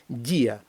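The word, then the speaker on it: día: і о треба розбить він розбивається таким способом над буквою і ставиться наголос наприклад Діа день не дія Бо якби ми не розбили дифтонга не поставили наголос над буквою і було б дія а потрібно дія тому ставимо наголос на і і дифтонг розбивається і тоді слово звучить так як воно повинно звучати дія наприклад груа кран Підйомний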